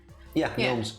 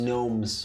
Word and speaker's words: gnomes: It's about gnomes. Gnomes. Living in a forest. Gnomes. The G is silent.